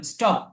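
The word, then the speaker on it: stop: খেয়াল করবেন, একটা জিনিস মনে রাখবেন, সেটা হচ্ছে এস এবং টি যখন একসাথে হয়, এস এবং টি যখন একসাথে হয়, পাশাপাশি হয়, তখন সেটা ঠয়ের মতো উচ্চারণ হয় না, তখন তখন সেটা বাংলায় যে ট আছে না, এই ট এর মতো উচ্চারণ হয়।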